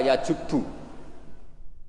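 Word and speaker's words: يجب: Itu bacanya bukan yajibu tapi apa? Yajubu yaktau.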